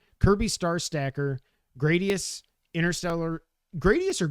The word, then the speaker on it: Gradius: don't know why because nothing about the way it's spelled says a. Yeah, but a consonant followed by vowel would make the a long. It would. Yeah, like grade. G r a d e. You don't say grad.